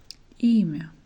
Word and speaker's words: имя: Имя. Имя. Here E is stressed, but it does not change the sound.